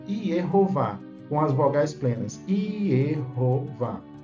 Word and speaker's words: Yehováh: com as vogais plenas iova são duas sílabas iero e vá a segunda sílaba sílaba tônica mais forte não é então se